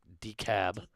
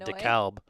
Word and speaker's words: DeKalb: beat it yeah and everyone's telling me it's the d-cab yeah i know that it's the cab i know i know i'm still gonna pronounce it dekalb because i lived uh i lived in illinois and there's a decal dekalb geez everyone's going to